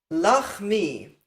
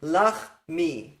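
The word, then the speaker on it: לחמי: Lachmi, that's how you pronounce this word. Lachmi, my bread or my food.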